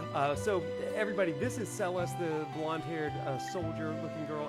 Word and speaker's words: Celes: and it completely debunks my pronunciation as a child of c-e-l-e-s being seals and i was always like all seals are such a great character but it's celeste or even cellos that's cool okay uh